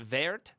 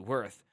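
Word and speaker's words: Wirth: name and he replied you can either call me by my name pronouncing it ver ver or call me by my value worth one can tell immediately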